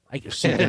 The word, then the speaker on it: Suiken: So something I don't think anybody's passionate about is we have official photos of Trainbot Suiken Suiken. I can never pronounce the name correctly.